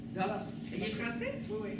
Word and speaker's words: Gorz: Est-ce que je le prononce correctement? Gorz? Gorz.